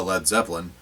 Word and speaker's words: Led Zeppelin: Entwistle reportedly said a Led Zeppelin the a and lead was dropped from the name to avoid mispronunciation because lead Zeppelin just sounds stupid the sleeve was coordinated